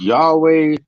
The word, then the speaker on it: Yahweh: wants bro y-a-wh right they say it's pronounced Yahweh look over I don't know